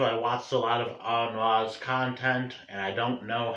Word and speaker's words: Aaron Ra: as I just learned, the correct way to pronounce his name is Aaron Ra.